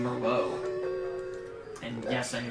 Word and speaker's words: Merlot: Also put this towards naming the Dracula X Chronicles file name Merlot. And yes, I knew how to pronounce that already. Thank you for the pronunciation. You mean like the wine? Yes.